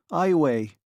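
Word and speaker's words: Iowa: Eyeway, she pronounced it eyeway.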